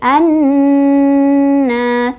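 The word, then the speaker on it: الناس: Cara bacanya, alif lamnya nggak dibaca. Jadi kita langsung baca ke huruf syamsiahnya, ke nunnya ya. Jadi an-nas.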